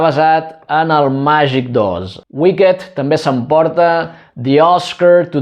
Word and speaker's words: Wicked: Atenció amb la pronunciació perquè la majoria de verbs, d'adjectius, de participis que acaben amb ed, la e no es pronuncia, però aquesta és una excepció. En aquest cas sí que s'ha de dir wicked.